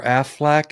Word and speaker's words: Aflac: Or Aflac has a duck because That sounds like Aflac rhymes with quack.